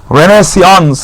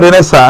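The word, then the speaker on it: Renaissance: তাহলে ব্যারেনেজের পর আসলো বলা হলো কি রেনেসা, রেনেসিয়ন্স। এটা উচ্চারণটা কিন্তু রেনেসা, এটা একটা ফ্রেঞ্চ শব্দ।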